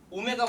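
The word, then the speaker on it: ω: 이 W가 아니라 오메가라고 읽어요. 그리스어로 알파와 오메가 할 때 오메가가 이거고 대문자가 이게 소문자 오메가예요. 알겠어요?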